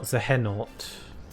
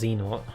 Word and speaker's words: Xehanort: When they start pronouncing Xehanort Zehenort and Ericus says Eriquise, then I know something's up.